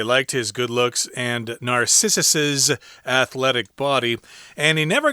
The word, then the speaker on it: Narcissus's: we pronounce this as Narcissus's good looks and athletic body. That's a lot of S sound. Sorry about that. Hard to say, indeed. Yeah. But yeah, they liked his good looks and Narcissus's athletic body.